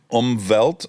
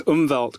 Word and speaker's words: Umwelt: pioneered this concept, this Umwelt concept. And for that, I've come to say to people, it's like Umbop, but slightly different.